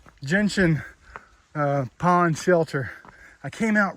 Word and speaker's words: gentian: The gentian. I kept wanting to put an A in the pronunciation of that. Can't stoop this low.